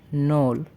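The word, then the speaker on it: ноль: আমাদের লিস্টের প্রথম নাম্বারটি হচ্ছে নোল।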